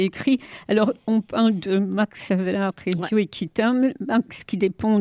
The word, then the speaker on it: Max Havelaar: Il y a le Max Havelaar. Oui. Je pense que je prononce bien. Oui, c'est Havelaar, voilà.